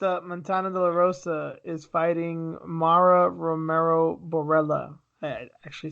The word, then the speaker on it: Mara Romero Borella: predict yeah next up Montana Dolorosa is fighting Mara Romero Borella I actually said it right this time yes